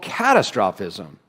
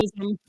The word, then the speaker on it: catastrophism: which is what's called catastrophism. Catastrophic. Catastrophism. I think he put the emphasis on the wrong syllable. Yeah, it's usually catastrophism.